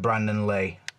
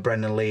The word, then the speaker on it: Brandon Lee: me to believe that Brandon Lee is in there or Brandon Lee keep saying it wrong don't know why I said Brendan I think I'm thinking of Brendan Rogers Liverpool manager so yeah you